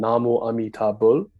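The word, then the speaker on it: 나무아미타불: is the chanting of the name of the Buddha amitaba pronounced in Korean Namo amitabul as well one might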